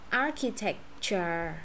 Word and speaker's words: architecture: Architecture. Architecture. Đó. Architecture là chữ CH này đọc là gì? Là bằng với chữ K ha.